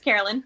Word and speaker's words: Karalyn: Did I misspell that, or did I mispronounce that? No, it's Karalyn. Okay, cool. I didn't want you to, kick my ass or anything. Karalyn.